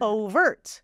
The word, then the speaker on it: overt: to sound like over exactly o o overt overt syllable stress on the first one you got it overt